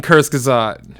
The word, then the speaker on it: Kurzgesagt: I think that yeah, it is It is fucking Kurzgesagt. Is that how that's pronounced?